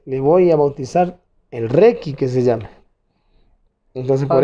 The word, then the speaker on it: Requi: Y bueno, y no me desagradó el nombre, porque Requi viene de requinto. Requinto, así es. No es como mucha gente pronuncia Requin, es Requi, nada más, sin N. Requi.